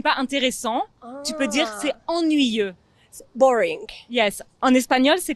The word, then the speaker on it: ennuyeux: presque presque exactement ça mais je sais que c'est un mot assez difficile à prononcer même pour les gens qui parlent déjà très bien français c'est ennuyeux ennuyeux ennuyeuse ennuyeuse très bien et tu